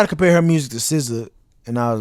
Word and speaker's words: SZA: Bro, it's SZA. Like you can say anything. People used to call her Caesar, SZA.